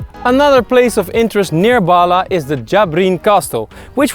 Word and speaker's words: Bahla: I would pronounce it Bahla, but in Arab it would have to be something like Bahla.